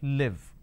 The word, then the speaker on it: live: to break this down the first one is Le e ver the second one is so the this e is something where the difference is so here I say e here I say e lot of people make this mistake they interchange they swap it and that's where it leads to a problem so if I have